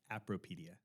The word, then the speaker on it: Appropedia: It's pronounced and and I take full blame for this, but it's pronounced apppropedia. Appropedia.